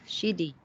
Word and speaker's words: Sheedy: i interviewed we have shiddy am i saying your name right you are saying it right yes yeah my husband told